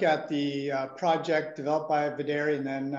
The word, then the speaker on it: Videri: It's V as in Victor, E, D as in David, E-R-E, Videri Bio.